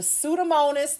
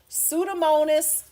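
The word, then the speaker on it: Pseudomonas: can say it the sudamonus the P is silent sudamonus Aruganosa.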